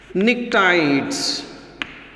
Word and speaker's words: pnictides: Now here the compounds formed by 15th group elements are also called pnictides. Once again P is silent.